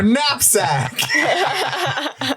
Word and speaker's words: knapsack: What kind of fucking psychopath would pick a word with a silent K? It's her knapsack.